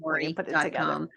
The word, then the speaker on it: Lourie: So, it's my first name, my full last name, Lori.